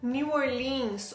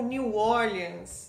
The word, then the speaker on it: New Orleans: Eu fui para New Orleans ou New Orleans, depende da pessoa com quem você falar aqui, porque são duas pronúncias diferentes do nome e as duas são corretas.